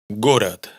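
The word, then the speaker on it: город: Gorat. Oís vocal neutra. Gorat. Gorat.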